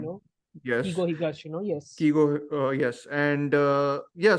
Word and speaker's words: Keigo Higashino: It's written by, you can Keigo pronounce the name. Higashino, Yes, Keigo Higashino, yes.